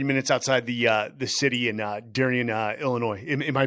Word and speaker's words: Darien: But you grew up only 30 minutes outside the city in Darien, Illinois. Am I pronouncing that right? Yeah. Darien?